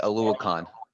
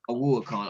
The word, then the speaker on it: Oluokun: I definitely butchered that, Mario. How you Yeah, pronounce it's that, Mario? Foye. It's Foye Oluokun. Oluokun.